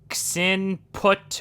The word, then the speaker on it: Xinput: or missing error and if you want me to pronounce it i can try to sin put one underscore three dot dll and this also it can also say x input one underscore three dot